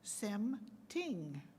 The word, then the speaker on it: Sem Ting: I say, Sem Ting. It might be even funnier when you see it. Sem Ting is spelled S-E-M-T-I-N-G.